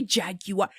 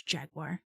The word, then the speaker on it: Jaguar: Like what is what the people who say it like a jag you are? Go jack yourself off somewhere. Not around me. Stop saying it like that. It's Jaguar.